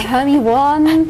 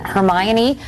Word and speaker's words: Hermione: many different interpretations like oh um Hermione uh homie won but now I guess now I guess because of the movie everyone knows how to say her name and Hermione like Emma Watson is growing up and I